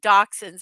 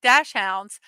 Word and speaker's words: dachshunds: Yeah, dow I always wanna say dachshunds, but dash hounds, which to me that word is it just the American in me wants to pronounce it differently.